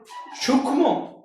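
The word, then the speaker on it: সূক্ষ্ম: যদি যুক্ত ব্যঞ্জনের সাথে যদি মফালা থাকে তাহলে সে মফালার কোন উচ্চারণ হয় না। তাহলে সূক্ষম যদি কেউ উচ্চারণ কর সেটা ভুল হবে। তাহলে উচ্চারণটা কি হবে? সূক্ষ। সূক্ষ।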